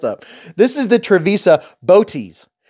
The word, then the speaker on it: Bootes: this is the travisa boties it's spelled like booties just know why check